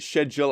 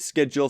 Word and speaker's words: schedule: I know that most people from the UK pronounce it schedule. I know people in the States pronounce it schedule, so I'll try and